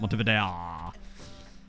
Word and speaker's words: Montevideo: That's how the locals pronounce it, Montevideo.